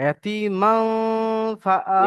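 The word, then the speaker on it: يتيما فآوى: আচ্ছা, এখানে ইয়াতিমান ফা যখন আমরা বলছি, আমরা মান শব্দটা, এই নুনের যে জিভের উচ্চারণ, এটা টাচ হবে না। আমরা মান মান বলে নাকের মধ্যে নিয়ে চলে যায়, ইয়াতিমান ফাআওয়া।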